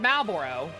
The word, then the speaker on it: Malboro: bro what is it it's pronounced malboro but i can't call them marble rose because cigarettes and